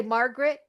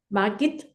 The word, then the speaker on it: Margit: My first name is Margit. Can I say Margaret? Margit.